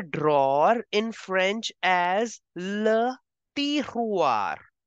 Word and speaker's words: tiroir: You will say drawer in French as le tiroir. The way you are pronouncing mirror, miroir, just replace the sound of m with the and it becomes drawer. Le tiroir.